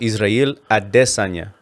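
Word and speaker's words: Israel Adesanya: way he really his real name how you pronounce it is israel adessanya oh israel because from nigeria you know sure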